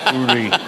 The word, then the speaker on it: Uri: of Yuri Geller who iuri it's a right pronunciation always call the Devil by his right name URI URI G yes I I now i' I've